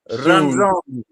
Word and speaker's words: Ranzoni: Ranzoni. The R's get rolled.